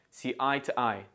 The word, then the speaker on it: see eye to eye: we discuss other things listen carefully to the Natural pronunciation of this phrase see I to I because the preposition to is not a keyword it is unstressed and we use the schwar sound T instead of to listen and then repeat